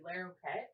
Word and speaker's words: Larroquette: Where she was herself on an episode of the John, maybe Larroquette. I don't really know how to say it, but I'll say. Yeah, Larroquette.